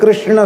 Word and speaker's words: कृष्ण: कोई किस किस कहते, कोई कैस कैस कहते, हरे कैस कैस कैस हरे हरे। कृष्ण नहीं बोल पा रहे थे बेचारे गांव के लोग। अभी भी एकदम शुद्ध कृष्ण शब्द का उच्चारण लोग नहीं कर पाते। कृष्ण ये शुद्ध उच्चारण है, पर इतना सावधानी